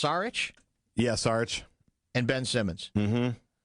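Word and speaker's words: Šarić: names of markelle fultz embiid daario is it pronounced saric yes arch and ben simmons the new nickname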